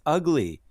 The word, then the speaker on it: ugli: It's pronounced ugly.